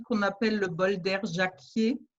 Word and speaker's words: Jacquier: appelle le bol d'air jacquier donc jacquier s'écrit jia sécu y ait eu un air comme jack au début mais avec i er le bol d'air jacquier